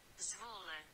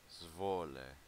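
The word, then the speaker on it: Zwolle: Let's go ahead and take a listen to how to pronounce this word. Zvole. Zvole.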